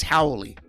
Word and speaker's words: Haole: Haole. Yeah, in Hawaiian, you pronounce every single letter. So, ha-o-le, right? Haole. But, it kind of comes out howly.